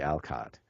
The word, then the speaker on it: Alcott: Little Women and the answer is Louisa May Alcott and for some reason those syllables could not be assembled in paully Sha's